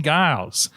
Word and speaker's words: Giles: Dean Giles, how are you now? Good, and you? Not so bad. It's Giles, by the way. It's a soft G, like those French over in Quebec.